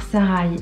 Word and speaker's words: Sarai: On a aussi un deuxième point de vue dans ce récit où on va suivre Sarai, une jeune fille, moi je dis Sarai, ça s'écrit Saré avec AI à la fin, mais je dis Sarai.